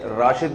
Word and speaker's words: راشد: ہمارے قومی ہیرو تھے, ان کے والد نے ان کا نام راشد رکھا تھا, رشید نہیں رکھا تھا. تو زبان کے اختلاف سے نا تھوڑا سا تلفظ میں فرق آ جاتا ہے.